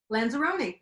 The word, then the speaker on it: Lanzarone: And am I pronouncing his last name when I say Lanzarone? Lanzarone, pretty good.